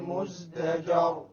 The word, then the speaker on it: مزدجر: وَلَقَدْ جَاءَهُمْ مِنَ الْأَنْبَاءِ ما فيه مزدجر. Once again, مزدجر, the ra is silent, before it is a fatha, so it will be heavy.